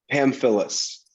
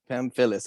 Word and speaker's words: Pamfillis: last name man so i don't butcher it pam phyllis pam phyllis okay i think i had it right yeah